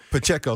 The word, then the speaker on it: Pacheco: Pacheco, thank you.